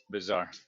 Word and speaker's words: Savart: How is that second word pronounced? Bizarre. Leo Bizarre. So Biot-Savart.